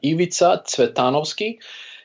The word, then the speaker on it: Ivica Cvetanovski: to to join you Eva Titano ski is the I believe the the correct pronunciation it originates from Macedonia and born and raised